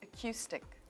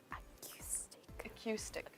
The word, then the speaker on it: acoustic: is the answer yes the stress is on the second syllable it is on the